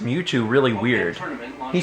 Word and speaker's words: Mewtwo: Bill Trinen pronounced Mewtwo really weird.